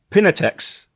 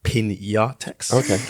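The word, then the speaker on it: Piñatex: Aishwarya says that Pinatex... Hold on, wait, sorry. It's actually pronounced Pinatex.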